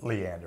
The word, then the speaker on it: Leander: And this, what I've seen of the engineers, the Burbach company, Leander, yeah, I had that name wrong.